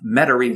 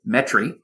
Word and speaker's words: Metairie: was working out of metairie louisiana or as we have to say metri metric yes i was very